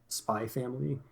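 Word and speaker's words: SPY×FAMILY: always go over this if there's an X in between two words it's always silent uh if it's at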